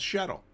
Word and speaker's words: SHTTL: Oh, it's called shuttle. That's how it's pronounced.